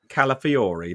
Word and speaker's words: Calafiori: I'll probably pronounce it wrong, Trevor, and you're going to pull me up on it. Calafiori.